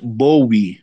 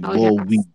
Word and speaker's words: Bowie: You pronounce it Bowie, like Bobo. So the VHO pronounced as a BO. So it's a Bowie.